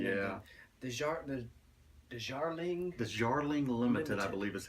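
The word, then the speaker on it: Darjeeling: The Jarling Limited, I believe, is how it's pronounced.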